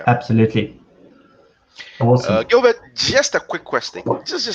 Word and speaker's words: Gilbert: My first name is Gilbert, which is actually French, so you pronounce it Gilbert, but no one pronounces it unless you go to France.